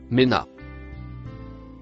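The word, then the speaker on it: من: Le mot marron, se prononce, mena.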